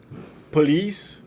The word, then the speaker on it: police: Police, que é geralmente pronunciada police, não é police, acentuado na segunda sílaba.